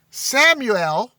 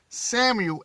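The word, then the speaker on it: Samael: familiar to you the father of the all samuel that's spelled s a m a e l and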